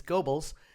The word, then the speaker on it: Goebbels: Once again, mispronouncing names. It's Goebbels.